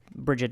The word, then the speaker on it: Brigid: said and that's how I prefer to say her name though again you can Bridget is also uh is also fine obviously and and not inaccurate okay so let me